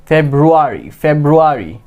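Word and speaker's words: February: বাট এখানে কি দুইটা আর আছে। অলওয়েজ আমাদেরকে দুইটা আরের কি উচ্চারণ করতে হবে। তো এটা কি হবে? ফেব্রুয়ারি।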